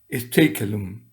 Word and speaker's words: Stakelum: padre Anthony o Antonio Steikelum. Y creo que es así como se pronuncia Steikelum, porque nunca se sabe hasta que uno no oye los idiomas anglos, bueno, este es irlandés.